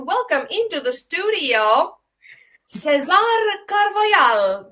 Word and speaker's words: Carvajal: And today I would like to welcome into the studio Cesar Carvajal. Do I say it correctly? Cesar Carvajal. Carvajal, like Grisa.